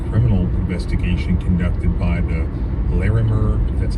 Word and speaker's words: Larimer: there was a criminal investigation conducted by the Larimer that's how you pronounce it County Sheriff's Office and that was